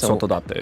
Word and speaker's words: Sotodate: And then for Sotodate, it's very self-explanatory. It's just keep the pronunciation slower, if that really helps. Because Sotodate.